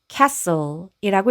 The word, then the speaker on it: castle: 그리고 e는 묵음 해서이 단어는 castle이라고 읽으시면 됩니다.